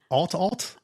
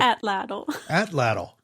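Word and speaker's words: Atlatl: No, we we said it was at alt alt. Well, I said that's not how you say it. What is it actually? We looked this up. Atlant. We're dumb. There's a lot of a t's and L's in that word.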